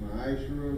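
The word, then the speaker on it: מעשר: Means 10th in Hebrew, and is pronounced Ma'ashra, 10% of any penny increase.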